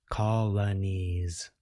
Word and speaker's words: colonies: exercise, but start with the last consonant sound, z, as in z, ease, knees, anise, lanise, alanise. Colonies.